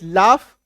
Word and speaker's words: laugh: LAUGH लाफ, GH आया तो फ हो गया, बट GH का अपना उच्चारण घ होता है, GH का अपना उच्चारण घ होता है।